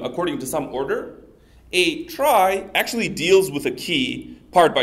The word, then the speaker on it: trie: tree already exists but originally the word tri came as a part of the word retrieval and so I believe the person who coined the term really wanted everybody to refer to these things as trees but for whatever reason that never really caught on okay so what